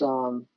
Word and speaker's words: Boutte: I believe he pronounces his last name Boutte. It's Boutte, um, and you can search him on Facebook.